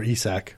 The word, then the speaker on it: Isak: And baby nutsack, or Isak. Isak. Yeah. Apparently is how you pronounce that in Norwegian.